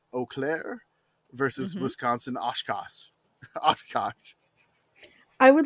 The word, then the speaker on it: Oshkosh: Oshkosh. I would like... Yes, as in bagosh.